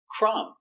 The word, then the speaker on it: crumb: plumber very good example crumb the B is silent you have MB at the end crumb one crumb two